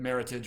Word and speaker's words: Meritage: And for some reason, they've decided that Meritage rhymes with heritage, because I used to say Meritage all the same time, but no, it's cool.